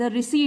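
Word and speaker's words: receipt: ढूंढने के लिए द रिसी इसमें पी साइलेंट होता है इसको बोलते हैं रिसी और हिंदी में होता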